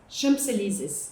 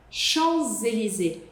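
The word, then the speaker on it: Champs-Élysées: As pessoas falam mais ou menos assim: "Champs elises, champselizes, champs". A questão é que vocês querem falar esse P, mas não dá para você falar esse esse P. Esse P é mudo. Elis. Cheliz.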